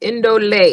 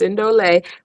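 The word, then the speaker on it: Ndolé: Indole is how it's pronounced. Indole.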